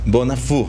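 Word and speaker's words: Bonnafoux: Bonafou es la pronunciación correcta, porque está muy afrancesado.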